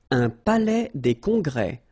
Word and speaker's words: palais des congrès: Un palais des congrès. Final S here and here are not pronounced.